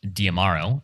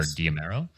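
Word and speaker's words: D'Amaro: Josh, uh, Josh Diamaro, I think is how you say his name, or Domero, uh, Diamaro.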